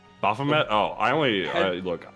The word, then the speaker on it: Baphomet: gonna bring to the table oh it's a bahamat i think uh they they clarified how to pronounce it earlier and uh i still i still get messed up so apologies in advance it's a demon it's baphomet baphomet oh i only i look i'm a